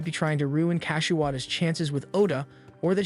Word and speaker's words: Kashiwada: She adds that she's been practicing and Oda always gives the best reactions whenever Kashiwada is involved, though she mispronounces her name as Kashiwagi.